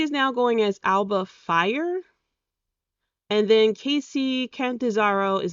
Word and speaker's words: Fyre: And so Alba Fire, Yoga Fire, I'm hoping it's not actually fire, that maybe it's, I don't know, it's Fyre. It's pronounced fire, I'm sure of it.